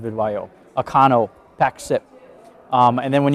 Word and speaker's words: Vidyo: So you're seeing that with companies like Video, I pronounce it VidYO, Acano, PackSip.